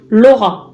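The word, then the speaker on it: L'Aura: C'est l'oracle Laura. Alors, Laura, le prénom Laura, comme ça s'écrit, sauf que vous avez un L apostrophe A-U-R-A pour faire aura.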